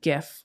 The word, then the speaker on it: GIF: head on down to GIF or GIF, depending on how you pronounce it.